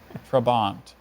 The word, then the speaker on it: trabant: own terrible coffee breath trabant trabont that first vowel sounds a schwa watch out could be anything on the alphabet trabont um trabant trabont